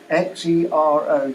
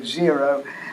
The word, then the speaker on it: Xero: Go on the internet and look for Xero, Xero, and it would solve 99% of all the